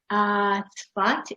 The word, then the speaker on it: Zfat: Zfat is the Hebrew pronunciation of the name of the town. The English pronunciation is Stafford, and this is why I included it.